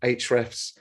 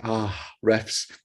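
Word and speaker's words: Ahrefs: a test content square hrefs or as joe and i were joking yesterday ah refs depending on how you say it um impression content cal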